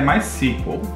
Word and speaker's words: MySQL: E aqui a pronúncia correta é MySQL.